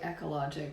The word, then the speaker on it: ekologik: um so the song it's called ecologic so it's spelt e-k-o-l-o-g-i-c um so like ecologic but i don't know i've done a little twist on it ecologic and it's the